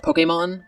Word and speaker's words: Pokémon: in Pokémon lowercase but he doesn't put the accent over it technically it's pronounced Pokemon but since I've never